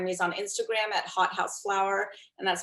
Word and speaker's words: Hautehouseflower: I think the most direct way to find me is on Instagram at hothouseflower, and that's spelled HAUTEHOUSE, then the word flower.